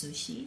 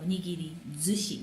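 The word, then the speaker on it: nigirizushi: And sushi, of course, sushi. So it's a compound word. And yes, pronunciation changes. So, nigiri, zushi, not sushi.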